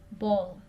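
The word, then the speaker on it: bowl: बॉल. आपने W की pronunciation बिल्कुल थोड़ी सी करनी है, इतना ज़्यादा गहरा नहीं करना, हल्का से कहना है बॉल.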